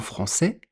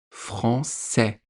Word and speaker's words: français: Donc dans un mot en français, quand vous avez A-I, ça se prononce est. Comme dans le mot français. Français, est, français, français.